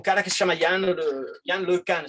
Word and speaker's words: LeCun: E, por exemplo, tem um cara que se chama Yann LeCun, se diz em francês, se escreve LeCun, que é um engenheiro